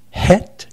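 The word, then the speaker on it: ח: the other two Hebrew letters is the Chet pronounced het and the Tet the het means means border or fence or to protect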